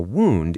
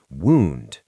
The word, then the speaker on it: wound: A wound is a fancy word for a cut or an injury. Wound. It sounds like moon with a D.